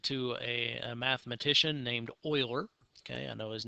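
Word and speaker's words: Euler: a a mathematician named Oiler okay I know his name does not look like it's a pronounced Oiler but that is the accepted pronunciation of his name I have not uh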